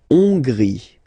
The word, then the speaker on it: Hongrie: La Hongrie. So remember, H doesn't exist, so you don't pronounce it. So it starts with O-N, on, and then gris. Final E, not pronounced.